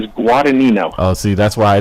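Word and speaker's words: Guadagnino: sorry I apologize my my last name is guino oh see that's why I didn't say it can you spell that can you spell that please this is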